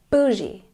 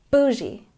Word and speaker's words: bougie: let's check our pronunciation we stress the first syllable B I Bouie once again bougie number 22 fire this